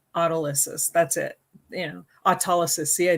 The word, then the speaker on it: autolysis: I know in a lot of videos, I will say autolysis because sometimes autolysis gets stuck and it doesn't always come out. And I hate that. But the proper pronunciation is autolysis.